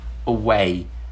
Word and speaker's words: away: For example, away, away, away. You can notice that I used the schwa sound for a.